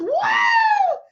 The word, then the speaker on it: Woo: So I am Woo, for those of you who don't know, and it is pronounced wow because I want you to live a life to say wow.